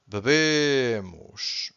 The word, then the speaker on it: bebem: So this is bebo, bebes, bebe, bebemos, bebem. The last one is hard because you have to stress the first syllable, and the last one is weak, not silent, weak and nasal because we have this ein.